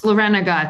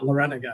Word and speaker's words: Larenga: It's Larenga. It's 4 syllables. I always tell the kids. I thought so. Yeah, Larenga.